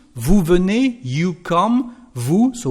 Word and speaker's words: vous: Vous venez, you come, vous. So we don't pronounce the letter S at the end, but we are going to pronounce it because we've got a liaison with vowels and mute H.